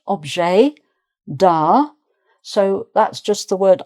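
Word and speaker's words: objet d'art: So again, the T of both is not pronounced object da.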